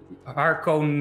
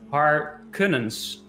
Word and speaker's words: Harkonnens: And you pronounce it Harkonnens.